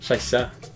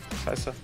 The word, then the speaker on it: Scheiße: How should I pronounce it? Scheiße. Scheiße. Scheiße. Scheiße. Yeah, Oh, okay. Not Scheiße. Scheiße.